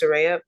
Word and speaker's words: Soraya: It's Soraya. My Wi-Fi was kind of going. It's pronounced Soraya, but my Wi-Fi was kind of going in